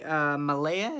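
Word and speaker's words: Mahle: be up against Tyler I believe Millea is how you say his last name he is Owen five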